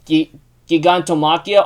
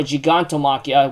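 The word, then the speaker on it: Gigantomachia: do because like um giganto machia or giganto machia which how you want to pronounce it has been on the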